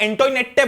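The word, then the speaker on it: Antoinette: तो भले ये एंटोइनेट है, पर तुम इसको, अगर मैं होता तुम्हारी जगह तो मैं कैसे याद रखता, मैरी एंटोइनेटे, मतलब पता है कि गलत है, पर कम से कम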